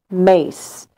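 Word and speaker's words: Myss: And it's by Carolyn Mace. Her last name is spelled M-Y-S-S.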